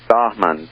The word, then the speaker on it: Bahman: they type in my name and I will spell that uh first name is bahman that's b a h m a n and